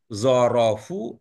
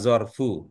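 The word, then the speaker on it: ظرف: Itu Ibu kalau baca itu terbaca zorofu apa zorfu? Zorfu, Oke, kalau begitu nanti selanjutnya begitu ya bacanya ya.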